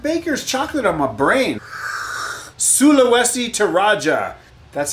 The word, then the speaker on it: Sulawesi Toraja: I got that baker's chocolate on my brain sulawesi to Raja that's how you pronounce that you guys are fabulous thanks for